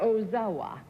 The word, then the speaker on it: Ozawa: ozawa is self-employed and deals in a service and we'll begin our general questioning with our impressions mr. ozawa is that the correct pronunciation yes mr.